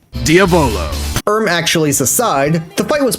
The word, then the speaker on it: Diavolo: Fun fact, they also pronounced Diavolo wrong. Diavolo.